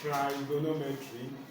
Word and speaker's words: trigonometry: I heard someone pronounce it as trigonometry, because it can still be correct, but the correct pronunciation is trigonometry. So the tree, that's the tri, T-R-I, there, of course, see, it represents three. That's tri, like in terms of triangle.